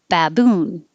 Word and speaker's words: baboon: 29, baboon. Or because the ba is not stressed, it could also be pronounced as a baboon.